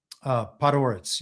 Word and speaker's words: Podhoretz: Podhoretz.